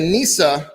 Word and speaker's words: Gnesa: We have the Nisa. We have a Nisa Chardonnay as well. Nisa is spelled Gnesa.